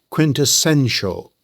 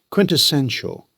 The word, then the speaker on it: quintessential: It has 4 syllables. The stress lands on the 3rd syllable. Quintessential. Say it with me. Quintessential.